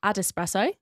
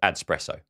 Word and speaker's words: AdEspresso: of all, Ad Espresso, I was convinced was Adspresso. And I didn't realise I know how to spell it now. I know that it is. I think I've called it Adspresso. That's what I've called it as well. So anyway, Adespresso.